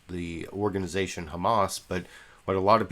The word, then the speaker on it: Hamas: he mispronounced the organization Hamas but what a lot of people were saying is he called Hamas hummus you know the like uh the dip made out of chickpeas hummus he called Hamas hummus you can sort